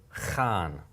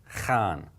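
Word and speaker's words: خان: So this is the kha, kha sound, followed by the aleph and a noon. Put this all together, khan, khan. Okay, khan.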